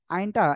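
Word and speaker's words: عين: আইনটা এভাবে উচ্চারণ হয় না। ফার্স্ট ক্লাসে আমি বুঝাইছিলাম, তারপরে আজকে আবার বলছি। দেখেন, এই আইন অক্ষরটা উচ্চারণ হবে গলাটা চেপে উচ্চারণ করতে হবে, আর চার লিপ টান হবে।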